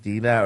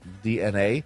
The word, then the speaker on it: DeNA: Nintendo has informed investors that they have partnered with DNA, okay, it's spelled Dena, like Dina or Dena, but it's actually DNA, to form a new subsidiary, sorry about that, in April of 2023, called Nintendo Systems.